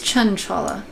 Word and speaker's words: Chanchala: your okay CH Chala wait is it chanchala or chaala have I been saying it wrong I wouldn't put it past me I said it wrong is it chanchala it is chanchala okay never mind don't